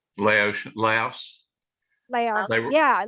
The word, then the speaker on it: Laos: Malaysia, No, Laotia, Laos, Laos.